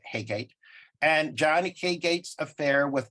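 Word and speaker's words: Heygate: Peter Maltravers, based on, I always pronounced it Haygate, but I saw an interview with AP where he pronounced it something like Hooget. I'm not going to carry off Hooget. So I'm just going to say Haygate.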